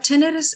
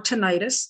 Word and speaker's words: tinnitus: misinformation out there so what tinnitus is or tinnitus either way that you pronounce it is fine it's a ringing in